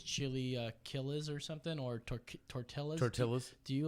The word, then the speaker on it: tortilla: Like when someone says chili killas or something, or tortillas. Tortillas? Do you like go ahead and say, excuse me, sir, it's tortilla? You got to make the Y sound.